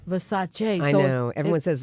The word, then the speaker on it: Versace: it's based on a book called House of Versace and I think you know listen I'm sure